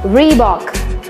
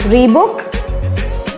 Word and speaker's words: Reebok: you have a guest yes that's correct it's Reebok it's not free book it's not Reba it's Reebok we Bock Reebok then we have